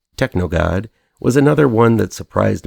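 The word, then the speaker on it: TKNOGD: enjoy in this one TK n o d pronounced technog God was another one that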